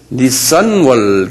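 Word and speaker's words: Nisan: 이건 자동차 그건 닛산 자동차하고 발음이 같은데요. 닛산월 그래요.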